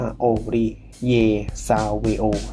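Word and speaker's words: Savéo: rivers shs นะ ครับ ซึ่ง ตรง นี้ เนี่ย อ่าน ว่า ซาวอ นะ ครับ มัน เป็น เอ่อ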